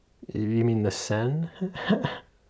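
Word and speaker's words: Seine: Sane River reopened after a century long ban. Are you aware about this? Sane River.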